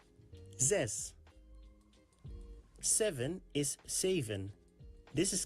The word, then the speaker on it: zes: This is pronounced like Z and the S sound of the word mess. Z and S. Zes.